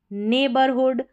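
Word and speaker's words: neighborhood: यहाँ पर ए करके पढ़ा जा रहा है, EI को A और GH साइलेंट है, इस तरीके से इसका कॉम्बिनेशन भी मैंने बताया है।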